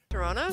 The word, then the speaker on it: Toronto: basically took place in Toronto so um pronounce toron toron toron you don't pronounce the T you don't pronounce the second T Toronto Toronto Toronto Toronto Toronto